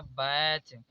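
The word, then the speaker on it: batch: अब यहाँ पर देखिए TCH यहाँ पर साथ आया तो यहाँ पर T कॉमन हो जाएगा तो इसे पढ़ा जाएगा बैच।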